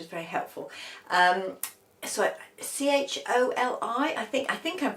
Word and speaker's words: choli: very helpful um so c h o l i I think I think I'm pronouncing it right choli cholly don't know anyway that's the